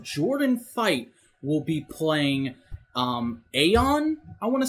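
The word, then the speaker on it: Aiyon: Fight will be playing Aeon, I want to say that's how it's pronounced. I haven't heard anyone say it yet. Is it pronounced Aeon? Do you know? Aeon, like Ion, they say Ion.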